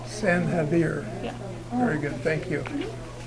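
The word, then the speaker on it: San Xavier: of the church excuse me how do you pronounce the name of the mission uh sanir s air no San Havier San havir yeah very good thank you there a weird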